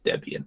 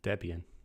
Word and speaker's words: Debian: Um So I think I think that means Debian is the correct pronunciation. Debian.